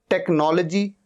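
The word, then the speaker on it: technology: टेक्नोलॉजी, टेक्नोलॉजी, एच यहां पर silent है।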